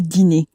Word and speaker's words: dîner: Again, make sure when you're saying the dinner in French that you pronounce it as le dîner, that sort of a sound at the end of it.